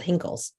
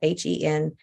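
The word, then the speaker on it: Henckels: and I've seen them lots of times called Hinkles. Like I said, I don't know if I'm saying it right. Henkels.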